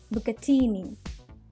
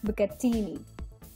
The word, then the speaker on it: bucatini: It is spaghetti kind of pasta, but a little more thicker, and there's a hole running in between, and it's pronounced as bucatini. Once again, bucatini.